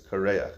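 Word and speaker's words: קרח: It's not Kairach, it's Kareach. That's how you pronounce it.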